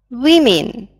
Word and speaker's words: women: Women. Обратите внимание, одна буковка здесь поменялась. Но произносим мы по-другому.